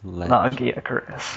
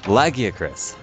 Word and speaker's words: Lagiacrus: of a monster whose name I can never pronounce lagiacrus Latakia Curtis lagiacrus thank you and I'm using an upgraded version